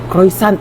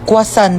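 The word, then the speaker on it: croissant: Croisant daw. Croyant? Ah kwasant po.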